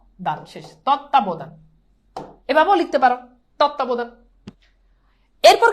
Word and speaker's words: তত্ত্বাবধান: তত্ত্বাবধান, এটা আমরা অনেকবার সলভ করছি। দেখো তৎ তা ব দান, তত্ত্বাবধান, শেষ।